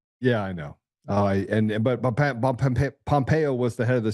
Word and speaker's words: Pompeo: hungry but um it rhymes with CIA. Yeah, I know. And but Pompeo was the head of the CIA.